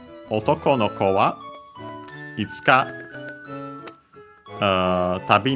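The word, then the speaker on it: 男: Otoko, male, accent on the last syllable.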